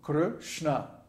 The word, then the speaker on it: Krishna: In Krishna, both syllables are short because there's no long vowels. The R in Kr is short and the A in Shna is short. So Krishna. By the way, there's no I sound.